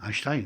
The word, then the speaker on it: Einstein: et on prononce le A, C'est vrai. alors qu'il n'y a pas de A. Ah, c'est vrai. On dit Tu dis Einstein. Einstein, tu dis 2 fois A, et le A n'est pas écrit.